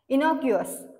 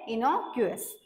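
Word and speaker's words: innocuous: या सेंटेन्सचा अर्थ होतो मराठीमध्ये नेक्स्ट वर्ड आहे इनोकस आय एन एनओ सी य य एस प्रोनन्सशन आहे इनोकस आय एन एन सी य य एस मिनिंग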